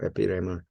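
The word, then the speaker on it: ἐπίρρημα: Epirema.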